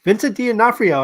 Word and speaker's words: Vincent D'Onofrio: Yes, Vincent D'Onofrio. Vincent D'Onofrio.